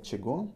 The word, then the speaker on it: чего: Written кого, чего, pronounced кого, чего. So try to remember the pronunciation.